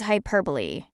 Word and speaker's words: hyperbole: pigment used in inks and dice the correct pronunciation of this word is hyperbole hyperbole hyperbole execrated statements or claims not meant